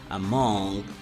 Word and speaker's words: among: Você talvez tenha usado algumas vezes a palavra between ou a palavra among. E cuidado já aí, vamos corrigir pronúncia, eu acho muito top a gente falar certo.